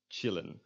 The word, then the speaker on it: chillen: Except for when it is an English loan word, like the word chillen, which comes from to chill. It's just always pronounced as a ch.